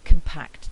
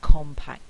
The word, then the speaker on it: compact: for example in the in the adjective compact the stress is on the second syllable if we then have um a noun following where the stress is at the start then what we find is that the stress moves from this syllable away from that other stress so it moves backwards so we don't say compact disc we say compact disc and this is known as stress shift other examples include words